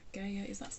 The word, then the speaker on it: Gaia: Gaia, that's how you pronounce it, isn't it?